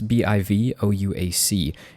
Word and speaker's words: bivouac: edge in this case but it's pronounced almost exactly how it's spelled which always throws me off words that have that many vowels commonly are pronounced it just totally ambiguously but it's again bi vou AC and I believe this